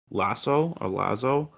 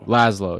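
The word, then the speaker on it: László: I think his name is Lasso, right? Hold on. Lazo. I don't know how to pronounce it. I'm forgetting. Laszlo, yeah, Laszlo.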